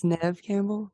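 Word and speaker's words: Neve Campbell: Neeve Nev Neeve how do you say it Nev Campbell Nev Campbell well the first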